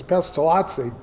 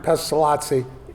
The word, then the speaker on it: Pestalozzi: I I think Aronn is right, it's Pestalozzi. But my advisor, Archibald Anderson, always referred to him as Pestalozzi, so I acquired that uh pronunciation.